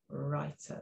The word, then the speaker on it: writer: could write amazing stories now writer doesn't sound like it starts with a w does it but it does because it's a silent w word writer there okay so right